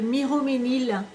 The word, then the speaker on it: Miromesnil: Ça s'appelle le Miroménil. Je ne sais plus de qui c'est. C'est Miromesnil que ça s'écrit.